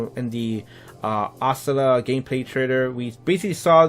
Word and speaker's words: Oscillator: the brand new hero, his name is pronounced the Oscillator. I know a lot of people, say it differently. People say Oscillato or Oscilli, which is Oscilli. I don't know how you say that.